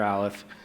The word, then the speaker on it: Aleph: my company's called lir alive uh pronounced sort of like Olive and uh it's myself